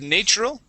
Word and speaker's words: natural: Let's practice natural instead of natural. Natural. Natural. Very good. And thought. Okay, so we want to pronounce an ah sound here with the O-U-G-H.